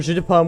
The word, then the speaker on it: jeu de Paume: if you know French because it's pronounced pretty much the same as the phrase that means apple juice the joke over jeu de Paume was played pretty much